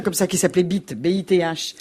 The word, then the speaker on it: Bith: Moi, j'ai des cousins comme ça qui s'appelaient Bith, B-I-T-H. Ils voulaient qu'on prononce à l'anglaise.